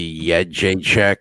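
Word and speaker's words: Jędrzejczyk: the D is uh I think it's supposed to be yed J Che but nobody pronounces the D I don't know why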